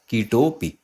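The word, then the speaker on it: कीटोऽपि: और देखिए जब हम उच्चारण करते हैं ना इसका, तो ये जो अवग्रह का चिन्ह है तो इस चिन्ह की कोई ध्वनि नहीं है। तो जब आप इस पूरे शब्द का उच्चारण कर रहे हैं तो ऐसा मान के चलिए कि यहाँ पे कुछ है ही नहीं, तो कीटोपी ऐसे ही बोला जाएगा इसको, ठीक है।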